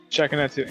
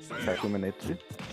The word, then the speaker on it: Shakunetsu: Shakuminiku? Shakuminiku. Shakuminiku. Shakuna Hatsune Miku. Shakuminiku. Shakuminiku. Like, I guess you're trying to pronounce fucking Shakunetsu. Yeah, it's Shakunetsu.